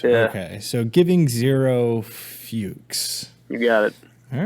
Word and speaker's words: Fuchs: Yeah, it's Fuchs. I'm pretty sure it's Fuchs. I'm Fuchs. trying. Yeah, it's Fuchs. Yeah. Okay, so giving zero Fuchs.